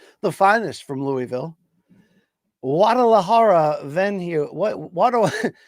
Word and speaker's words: Guadalajara: Guadalajara venue. What Guadalajara we doing here? Great city, never been. Yes, thank you for the correct pronunciation, Luke Thomas.